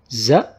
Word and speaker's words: ز: ز is like the letter Z. Or Z in zoo.